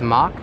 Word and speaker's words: Mach: Although I did say Mac earlier, I believe the proper pronunciation of the coaster manufacturer is Mach.